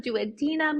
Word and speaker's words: duodenum: the stomach into the duodenum, "do a denim", you might've heard people pronounce it as, that is where all these juices from the pancreas, like the bicarb and those enzymes come in.